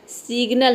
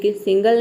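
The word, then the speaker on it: signal: देखिए सिग्नल यह है सिग्नल है सिंगल नहीं है सिग्नल है यहां पर देख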